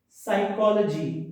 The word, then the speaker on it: psychology: N is not pronounced over here. Autumn, Heim, silent P, psychology.